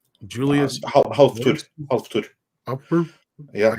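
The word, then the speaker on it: Hafþór: as Killer Croc, and Half Bar, Julius Halftud. Upper. Yeah, it's the B is supposed to be the Icelandic Ed. The it's pronounced the Halftud, Julius Björnsson.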